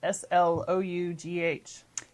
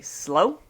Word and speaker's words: slough: All right, the word is spelled S-L-O-U-G-H. I'm going to say slow. Well, I mean, I'm thinking slough. not slow. Like when you slough off skin.